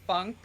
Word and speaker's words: phonk: It was like it's called funk, but like they spelled like PHONK instead of like, funk from like the like 70s, 80s. It was like it's just like PHONK.